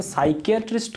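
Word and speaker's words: psychiatrist: उसी तरह से साइकेट्रिस्ट का जो स्पेलिंग है ये शुरू होता है कहाँ से, P से, ठीक है। जबकि P क्या होता है, P साइलेंट होता है, उसको प्रोनाउंसिएशन नहीं किया जाता है, तो इसकी शुरुआत होगी P से, P।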